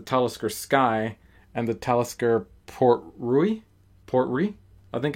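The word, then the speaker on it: Port Ruighe: I think it's Port Rui because it's supposed to be like Portree, which is like the town there on the Isle of Skye.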